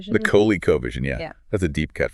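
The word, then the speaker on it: ColecoVision: The Coco Vision. The Kohley Covision.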